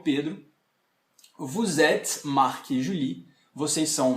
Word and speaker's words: vous êtes: Tá errado, assim, não se fala vous êtes. Eu tenho que fazer a ligação. Então fica vous êtes.